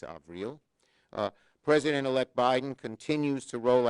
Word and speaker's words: Avril: to tony blinken and april of real haines she corrected my pronunciation it's avril president-elect biden continues to